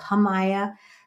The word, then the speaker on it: Jamaya: name is Jamaya and the J is pronounced like an h o hamaya because it's a Spanish